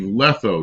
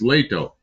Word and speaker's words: Lehto: It's Dean Stevenson says Steve Letho. No, it's Leto. Lehto. You got the H and the T backwards.